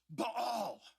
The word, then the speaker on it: Baal: He's like, it's pronounced Baal, like he was a Klingon or something. We're going to say Baal just for convenience, if that's all right with you.